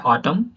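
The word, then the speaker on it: autumn: यहाँ पे हो जाता है ऑटम, है ना। एन साइलेंट हो गया यहाँ पे, ओके। ऑटम, ऑटम नहीं पढ़ेंगे, ऑटम पढ़ेंगे, ओके।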